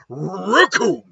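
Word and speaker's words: Recoome: ready to rumble because the name's raccoon and it rhymes with doom and you're gonna be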